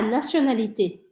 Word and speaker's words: nationalité: Quelle est ta nationalité? Quelle est ta nationalité? Quelle est ta nationalité? Se escreve com T, mas a gente fala como se fosse um S, tá? Dois S's.